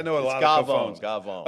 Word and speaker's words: cafone: this guy called the Cafone, which in Italian culture, it's Gavone, really, is how you pronounce it. Gavone, yeah.